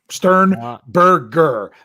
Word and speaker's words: Sternberger: chart and then it's jay sternberger stern burger there i said it right there you go